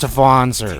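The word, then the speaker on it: Wanzer: It's pronounced Vonzer.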